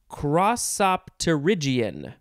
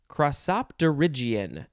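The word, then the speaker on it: crossopterygian: word how do we say this it is crossopterygion crosopderigion is this great word uh it is spelled c r o s s o p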